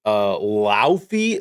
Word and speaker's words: Laufey: Everybody's been talked about God of War Lothy. That's how you pronounce it.